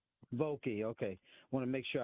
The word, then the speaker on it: Vokey: It's Vokey. Vokey, okay.